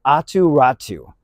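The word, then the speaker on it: Aatu Räty: also in the deal Center ATU ratu is spelled differently but that's what I've been told how you pronounce it a Finnish Center and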